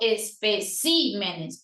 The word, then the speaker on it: especímenes: Espécimen para el singular, pero especímenes para el plural.